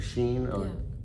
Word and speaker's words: Shein: I think Shein. Did I pronounce that right? Yeah, that's how I pronounce it. Okay, Yeah, Shein, so Temu.